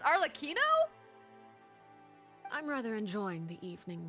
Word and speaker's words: Arlecchino: like the spelling yeah you pronounce like arino because it's Italian but when you say cappuccino it's cappuccino so that's why I thought it was arcino but it's arino I'm rather enjoying the